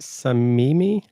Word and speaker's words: Samimi: it's chris am i gonna say this right some mimi you said it right my name gets butchered a lot so i you know at